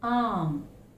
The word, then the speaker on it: arm: Here is arm. I've heard some people pronouncing the word arm. It's arm. Okay, this sound is silent. It's arm. Again, we find artist.